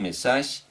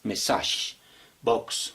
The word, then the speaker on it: message box: Pero también se puede utilizar un label o un message, así se pronuncia, message box, no se dice mensaje, sino message box, ¿listo?